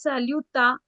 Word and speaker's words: salutation: So in English, we pronounce it as salutation, shun. In French, we'll pronounce it as salutation. Tion will always become sion.